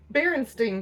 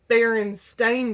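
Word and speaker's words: Berenstain: about like barenstein Bears they think that barenstein with s t i n and then now they're saying no it's always been baren stain Bears I don't even know how to say it right but it's the last letters s t a i n instead of e i n which I wasn't really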